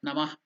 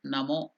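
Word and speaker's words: नमो: So Namaha has the Visarga Namah. So that Visarga when we take out it becomes Okara. That's why we don't tell Namah. We tell Namo now, removing that Visarga.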